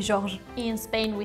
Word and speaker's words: Georges: If you don't want, you don't put the S. I guess you don't pronounce it anyway.